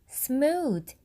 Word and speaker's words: smooth: 영어 단어가 smooth가 아니라 smooth. th 발음이 번데기 발음이 아니라 돼지꼬리 발음이라는 사실.